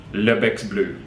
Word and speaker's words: Le Bec Bleu: pictures for Insta, is Le Bec Bleu. That's how you say it. When you say Bec Bleu, you have to say Le Bec Bleu.